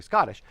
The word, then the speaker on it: Scottish: When you're talking to someone who is Scottish, they pronounce Scottish different than Americans pronounce Scottish. So if you're saying Scottish, if you're actually Scottish, you're saying the O like ought. So you're saying Scottish, and you're having a hard guttural stop, a hard guttural T, like Scottish.